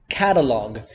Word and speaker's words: catalogue: the group of gue disappears a lot like catalogue or dialogue or colleague it disappears there the